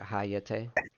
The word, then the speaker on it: Hayate: So hayate.